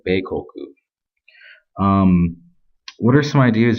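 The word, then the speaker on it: 米国: in the second one means country and then pronounced in Japanese you would say bekoku um what are some ideas you really have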